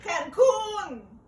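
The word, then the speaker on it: Cancún: I came on the plane, the eagle, the medal, to Cancun.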